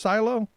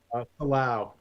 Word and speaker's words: Silao: Is that how it's pronounced? Silo? Silao. Yeah, Silao.